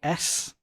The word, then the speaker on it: Haise: Uh the guy in question being Franck Haise, uh is how you pronounce it, H A I S E if anybody sees it written down.